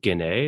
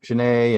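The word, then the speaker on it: Ginet: Is it Genet? Is that how you pronounce it? Genet. Genet. Okay. Yep.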